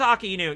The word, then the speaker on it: Akainu: So Aka means red, Inu means dog. Okay, so Aka, Inu... But then also people do AKAI, so they do that as the first syllable, and then nu as the second. So Akai Nu. Sometimes they say it that way.